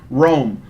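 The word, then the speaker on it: Roam: He says, okay, first song request for this Beat Saber stream is the B52's Rome, although it should be thought of as Rome, R-O-M-E, when listening to the chorus.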